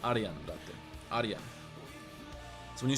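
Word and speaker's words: Arijan: name, they call me Arjan. If you ask an Indian person to pronounce my name, they call it they say Arajan, which sounds horrible. My name is Arian. That's pronounced Arian.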